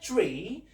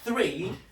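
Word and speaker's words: three: So when we say tree, it's a tree. It's not the number 3, right? So we should be careful with our pronunciation in English, right? So in English we say 3, not tree, right?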